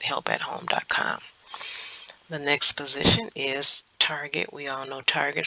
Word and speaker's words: Target: the next position is Target we all know Target some of you all pronounce it Tarjay but today is going to be Target and um this position